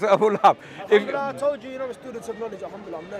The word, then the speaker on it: Abu Lahab: Abu Lahab, not Abu Luhayb. Abu Jahl. No. He said Abu Jahl, you said Abu Lahab. I'm correcting your pronunciation of Abu Lahab. You said Abu Lahib.